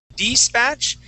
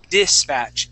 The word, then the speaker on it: dispatch: that I as well we want to say did instead of despatch dispatch into dispatch into the dispatch that's it okay that's that I sound okay about 90% of the time that I is going to be a short eye sound other times like off